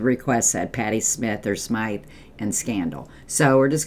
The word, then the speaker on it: Smyth: He wants to go back to 1984, and he wants to hear the Patty Smyth, or around here we called her Patty Smyth, but some call her Patty Smith, and it's spelled S-M-Y-T-H.